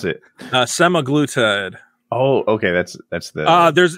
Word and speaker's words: semaglutide: How do you pronounce it? Semaglutide.